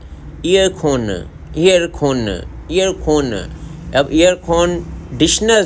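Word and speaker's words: 에어컨: में भी air conditioner को एयरकॉन कहते हैं, ईयरखोन, ईयरखोन, ईयरखोन। अब ईयरखोन डिशनर जो है ये साइलेंट कर देते हैं, ये लोग नहीं बोलते।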